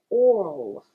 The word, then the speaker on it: oral: So, in this case, even the L must be heard. Like this. oral oral So, to help you with this, instead of making your gateway of speech thin, you really have to open your mouth to pronounce the O R and the L.